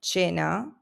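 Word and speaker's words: cena: This is pronounced at a soft ch sound like in church. So you will find words like cha which is dinner where the c comes before the e and it becomes a soft ch.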